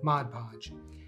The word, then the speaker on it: Mod Podge: is the inventor of mod podge and so let's go ahead and thank Jan for creating this great product and let's talk about how to say it it is Mod Podge now the other voice